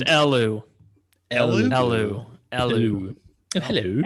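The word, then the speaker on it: Elw: They're But- pronounced Elu.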